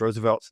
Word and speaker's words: RSVLTS: your pocketbook up, but Roosevelts is RSVLTS, pronounced Roosevelts.